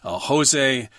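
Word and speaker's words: José: Jose, it's Jose, I think, because he's Portuguese. So I think that's how you pronounce it.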